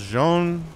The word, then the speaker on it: Zaun: I've heard it said that the name is pronounced Jean. You know, if you actually try to say it the Korean way, but like, I don't know, man. Tasosis calls him Zaun because that's how it looks in English, but he's not English, so...